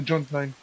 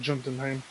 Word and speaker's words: Jotunheim: In repayment, he will help us get to Jotunheim, or Jotunheim. They pronounce the J's like Y's, but I've heard Jotunheim at one point.